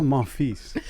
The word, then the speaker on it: Monfils: Gael Monfils. Yay! Yes. Yay! I didn't know you had to pronounce the S. I've been watching this guy Yes. for years. I always thought there was no S.